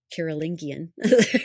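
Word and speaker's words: Carolingian: Karolingian, we really want to get that hard G.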